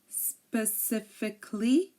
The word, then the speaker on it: specifically: pronounce the letter A but if a word ends in i c a l l y uh most people don't pronounce it um here are some